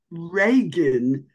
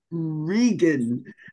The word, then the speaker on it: Reagan: she very distinctly said, it is not Reagan. He might have been even Ronald Reagan, the president at the time. She said, my name is pronounced Reagan.